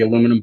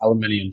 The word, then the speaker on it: aluminium: Like he was just talking about the aluminum boat, and it's aluminium to y'all. Aluminium. Aluminum. Yeah. Oh, you say aluminum? Like really? Aluminum, aluminium, same.